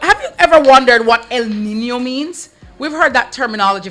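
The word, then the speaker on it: El Niño: So, El Nino and it is spelled E L. It is Spanish. Okay. Nino. N I N O and N has the till day over it.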